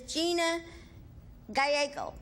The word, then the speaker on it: Gina Gallego: This little girl is Gina Gallego. That's the way she pronounced it.